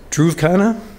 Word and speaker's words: Dhruv Khanna: Dhruv Khanna, pronounced right?